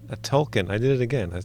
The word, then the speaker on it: Tolkien: I mispronounced token. A Tolkien.